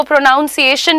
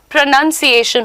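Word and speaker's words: pronunciation: today you have learn कि वो प्रोनाउंस एशन नहीं होता है प्रोनंसिएशन होता है रियली नहीं होता है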